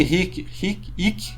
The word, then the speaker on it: hic: Lusitani, hic, né? O H não era pronunciado mais.